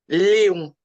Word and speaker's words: Lyon: Léon.